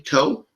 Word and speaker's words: Koh: This is from Ken Co. I think that's how you say it, Ken, K-O-H, Co.